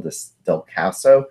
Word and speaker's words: Descalso: or 6th in the lineup, would be Daniel Descalso.